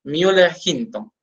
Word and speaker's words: Müller-Hinton: Entonces nosotros lo pronunciamos como agar, pues que es un medio sólido, Müller-Hinton.